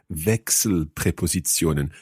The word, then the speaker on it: Wechselpräpositionen: I don't want to go and Wechselpräpositionen.